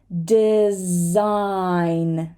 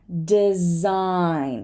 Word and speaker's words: design: foreign foreign sign sign we're not going to say the g design design right champagne right so